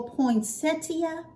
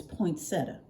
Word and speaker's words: poinsettia: got me a little poinsettia I know that's not how it's pronounced it's poinsettia y'all just give me